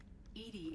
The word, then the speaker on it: EDI: Edie is the phonetic pronunciation of E-D-I.